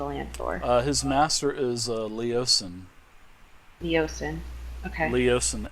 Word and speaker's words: Leosin: Uh his master is Leosen. Leosen. Okay. Leosen. L E O S I N or Lor. Leoen. Yep. Leosen. Leosen. There could be many ways to pronunciate that, but let's go with a leosin.